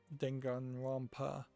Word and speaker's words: Danganronpa: kind of feel like The Craze of Danganronpa dengan Wampa is the right way to pronounce that I um they seem to be